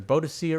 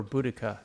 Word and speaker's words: Boadicea: available in the game it's either bodia or buddika those are the pronunciations Hosea calls her bodia an AR call her bodhia but I believe buddika is the that's what they call her in the UK but buddika may be the romanized version of bodhia the